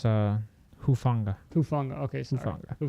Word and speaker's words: Hufanga: Let's pronounce his last name, Hufanga. With him out, that secondary is even weaker now. It's Hufanga.